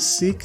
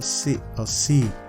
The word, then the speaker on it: Sikh: Is it Sikh they call it, or C? I think the K is silent. Is SIKH, C religion.